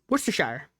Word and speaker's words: Worcestershire: Abby just said she doesn't even know how to pronounce Worcestershire. Does anybody know I do. Worcestershire.